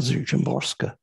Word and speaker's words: Szymborska: This is by Wisława Szymborska, the great, great Polish poet.